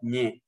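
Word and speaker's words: Nik: لكن المشكلة إخواننا في ماليزيا هو ينطقون هكذا ني ني، لكن كيف يكتب الهمزة باللغة الملايوية؟ هو ينطق ني، كيف يكتب الهمزة؟ فللأسف يكتبونها ان اي كي، ان اي كي.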